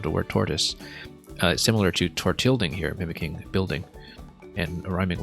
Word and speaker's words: Tortilding: I mean, it's clearly meant to be pronounced Tortilding because it rhymes with building, and it is a building.